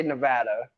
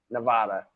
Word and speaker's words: Nevada: I say Nevada. Most people say Nevada. Like Nevada. It's Nevada.